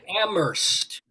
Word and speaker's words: Amherst: massachusetts oh yeah they're amherst it's not that's right she does okay ambrose the h is silent yeah okay i know i used to date a guy who went to amherst he was very big